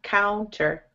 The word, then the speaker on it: counter: And now use the ow sound. Cow, counter. Counter. Very good. So a lot of the time that OU sounds like ow.